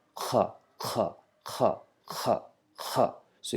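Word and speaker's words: خاء: to stress the sound Kha with Kha, Kha, Kha, Kha, Kha, Kha. So it's not just simple Kha, it's Kha, Kha. Try to produce the sound from the lowest end of the throat.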